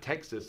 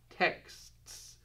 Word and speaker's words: texts: States Texas Texas and it's not Texas it's texts texts and always these are